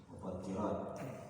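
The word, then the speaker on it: مفطرات: Mufattirat dibacanya tasdid ibn ta, tarkul mufattirat bitasdid ta ay mufsidat lisawm, meninggalkan hal-hal yang dapat merusak puasa.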